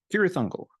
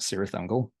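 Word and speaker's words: Cirith Ungol: quite a bit is California's curious uncle or is they pronounce it serious angle won't go down that rabbit hole tonight serious Uncle their catalog is relatively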